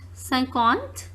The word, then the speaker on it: cinquante: 51, as 50 is pronounced cinquante, that we are going to see.